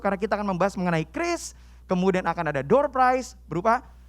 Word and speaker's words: QRIS: hari ini mengenai krisis Inget ya bacanya itu ya tulisannya orang tulisannya currys gitu ya namun bacanya Kris teman-teman macam-macam Soalnya saya sebelum kesini aja bacanya currys bahkan teman saya dan ribet banget bacanya Mbak ada pembayaran love you i love lumayan berlebihan ya Haha jadi Bacanya teman-teman adalah Kris dan Kris ini merupakan